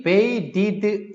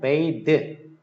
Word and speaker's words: bathe: be bathed in. 그러면 이제 bath 하면은 bath는 명사지. 목욕이고 이제 뒤에 e가 붙으면은 bathe 동사로 목욕하다지. bathe. 이렇게. 발음이 완전히 달라지는 거야.